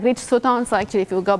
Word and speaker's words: Sutton: How do you pronounce his name correctly? Rich Sutton, and then it's Andy Bartow.